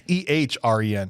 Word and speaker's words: Ehren: It's EHREN.